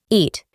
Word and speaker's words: eat: Para pronunciarlo correctamente, vamos a reemplazar las vocales ea con i, eat, y se puede usar de la siguiente manera: yo como una manzana todos los días.